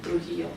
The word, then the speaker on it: Trujillo: Oh, that's Trujillo. I'll say it like that, so I don't sound so white, you know.